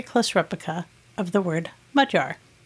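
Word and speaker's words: magyar: you a little hint first of all that gy in the center is actually a letter in the hungarian language and it has a sound that is similar to the dg in the word edge i like to teach the pronunciation of mudjar to people using two words we are familiar with saying in english mud and jar using this phonetic approximation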